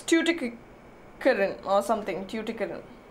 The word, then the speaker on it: Tuticorin: how to pronounce it, but I think it's Tuticorin. Tuticorin or something. Tuticorin. It's somewhere in Tamil Nadu, I believe. Tuticorin. Yes, it is Tuticorin.